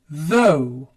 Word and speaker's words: though: Though, it makes the O sound. Though.